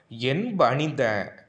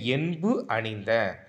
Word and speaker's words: என்பு அணிந்த: இது வந்து நான் தப்பாக உச்சரிச்சிருக்கேன். எப்படி உச்சரிக்கணும்னா என் பணிந்த, என்பு கூட்டல் அணிந்த, என்புனா எலும்பை மாலையாக அணிந்த அப்படின்னு பொருள் தரும். என் பணிந்தன்னு சொல்லிடாதீங்க, என்பு அணிந்த, எலும்பை மாலையாக அணிந்த.